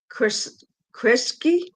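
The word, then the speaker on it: Kresge: And I'll need somebody to help me with a pronunciation, but basist Marian Hayden is the 2025 Chris Kriski. Yeah, that's foundation. Yeah, Krisky foundation.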